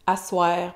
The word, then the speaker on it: à soir: Asseoir, prononciation informelle pour le soir.